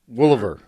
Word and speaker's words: Woliver: wrong every time - Woolever Woolever yeah it's real country all right I got you it's like there's four O's in it yes because we're because